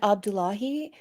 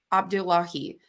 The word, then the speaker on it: Abdullahi: I didn't get confirmation I said Abdullahi you said it right they said that you